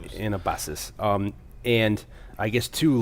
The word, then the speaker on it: Anabasis: the Greek uh anabus anabasus. I can never pronounce it right. An AA ba s I s for everybody else. Anabasis.